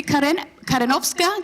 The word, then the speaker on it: Karenowska: And you are Karen-Karenoska. Did I pronounce that right?